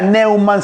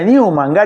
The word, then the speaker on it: Numan: No queda Neuman, sino como lo conocemos, Newman. Y además, ¿por qué? Porque era ganchero Newman y juega con eso de nuevo hombre. Porque se pronuncia pronuncia Newman.